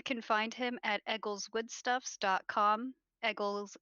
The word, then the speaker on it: Egills: Eggles is spelled Egills.